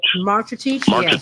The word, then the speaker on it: Marcetic: You talking about Branko Marcetic? Marcetic.